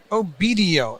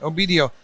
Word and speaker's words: Obedio: Obedio. Obedio.